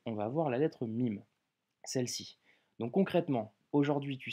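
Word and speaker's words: ميم: sera la lettre MIM le MIM en arabe se prononce comme un M en français que tu retrouves en français dans le mot maman ok avant d'étudier euh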